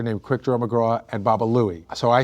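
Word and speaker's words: Baba Looey: going to get a baba Buie I was pronouncing it incorrectly and they were like what are you going to get I'm like I'm going to get a baba buoy so you know most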